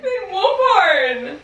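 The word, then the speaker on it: Finn Wolfhard: fin wolf hard how do you say it Finn wolf hard Finn wolf hard yeah no cuz I I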